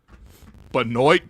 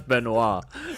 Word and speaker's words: Benoit: No, that's Benoit. That's Benoit. Benoit Benjamin? Benoit? It says on the pronunciation guide, b e n and then dash capital o y t capital.